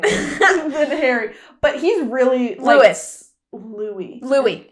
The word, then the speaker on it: Louis: what I mean hairy but he's really Lewis Louie Louie it's Louie I read it I'm sorry Louie I really